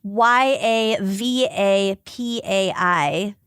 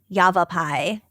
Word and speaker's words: Yavapai: that's awesome I love that so much and it's spelled y a v a p a i Yavapai Yavapai and the website is Yavapai human Trappers